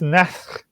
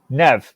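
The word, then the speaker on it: Nedd: So, Casteth Neth, if I pronounce that correct. Nev. It's Nev, is it? Nev. Casteth Neth. It's more like air, not net.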